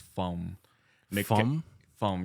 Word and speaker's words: Phong: my name is uh Fong um where the correct pronunciation is from from yes it's Vietnamese so you know um any words that ends with NG yeah pronounced like a short M Oh short M I